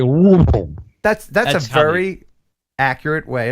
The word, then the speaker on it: Louisville: The way you would pronounce that is you would stuff your face full of pumpkin pie, and then you would say Louisville.